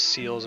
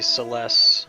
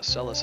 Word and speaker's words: Celes: He used to pronounce her name as Celes when I was a kid. Cool, cool. But I believe it's supposed to be Celes, or even like Celeste.